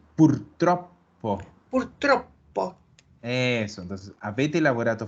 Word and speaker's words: purtroppo: Ojo a las dobles en la pronunciación. Abbiamo. Abbiamo. No tiene doble M, tiene doble B. Abbiamo. Otro es purtroppo.